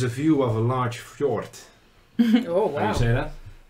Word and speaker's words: fjord: view of a large fjord. Oh, wow. How do you say that? Fjord. Fjord. Fjord. You no, see a large no fjord. D. No D. Just, oh, look, just guys. Fjord. It's a fjord.